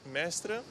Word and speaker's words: Mestre: coppia di fidanzati olandesi che però soggiorna a Mestre. One day here and we are staying in Mestre. If I pronounce it good.